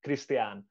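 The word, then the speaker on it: Krisztián: So my name is Christian, and in Hungarian pronunciation is Christian.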